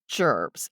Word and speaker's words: gerbs: That's jerbs, as in ge rs, but pronounced jerbs.